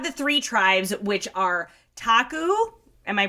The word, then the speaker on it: Taku: So you have the three tribes which are Taku. Am I pronouncing that right? I believe so. I would say Taku as well.